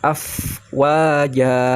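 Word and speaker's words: أفواجا: Afwaja. Nah, jim yang seperti tadi jimnya ya, tidak ja tapi afwaja.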